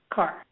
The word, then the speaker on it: Kaur: Kaur, okay. Yep. And I knew I was going to get that pronunciation a little.